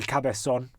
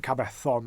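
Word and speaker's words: Cabezón: Or El Cabezon, or El Cabe. See, in Spanish they pronounce their Z's as S's, or in Argentinian Spanish they pronounce their Z's as S's. In Spanish they pronounce this. So Cabezon or Cabezon.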